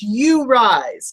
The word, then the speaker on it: UURISE: rise and it is even though it is spelled you you rise it is you rise tell Elizabeth so you